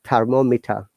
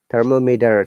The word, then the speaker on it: thermometer: is a schwa sound the letter r at the last letter in british english it is not pronounced and that e before r is the sure sum so it becomes thermometer in british ipm americans thermometer t sounds like d flap t and i'm sure you